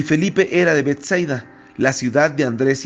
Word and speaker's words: Betsaida: realidad esta palabra griega, así como lo dice solamente con doble S, Betsaida con acento en la A final, quiere decir casa de frutos, o quiere decir una casa que tiene pesca.